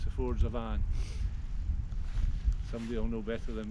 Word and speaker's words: Avon: derry and i'm now at the ford's of anne it's pronounced and as far as i'm aware after